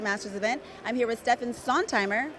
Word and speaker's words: Steffen Sontheimer: I'm here with Steffen Sontheimer, correct? What's the correct German pronunciation? Steffen Sontheimer.